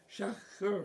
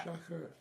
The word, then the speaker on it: Schacher: Shaker. Schacher. Schachter. No T. Schacher. Yeah. Schacher.